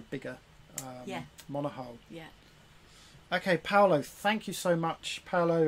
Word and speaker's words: Paolo: All the best from Paolo. You see, my English is terrible. I can't pronounce it. Well, it's Paolo. Just say Paolo.